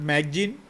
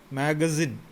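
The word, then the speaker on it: magazine: मैगजीन कहता है, pronunciation मैगजीन, नॉट मैगजीन बट मैगजीन.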